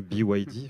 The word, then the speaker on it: BYD: Donc c'est bien BYD, parce que c'est un acronyme anglais qui signifie Build Your Dreams.